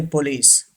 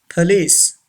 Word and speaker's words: police: number five police yes don't say police police say this word police number six stomach